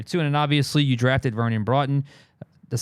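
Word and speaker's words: Vernon Broughton: And obviously, you drafted Vernon Broton.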